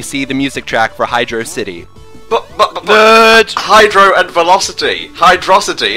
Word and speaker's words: Hydrocity: Sky, just so we can get this out of the way straight away, how do you pronounce this level's name properly? Hydrocity!